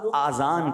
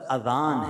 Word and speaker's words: اذان: بعض لوگ آذان کہتے ہیں, یاد رہے پہلے اذان کہتے کس طرح ہے, اس کا تلفظ سے بچ لیں. آذان اذن کی جمع ہے, اذن کہتے کان کو, یہ آذان نہیں ہے, یہ لفظ اذان ہے, ٹھیک ہے.